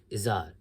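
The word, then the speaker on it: Izhar: for what I said Cora's father's name was izzar is ah Izar we also but what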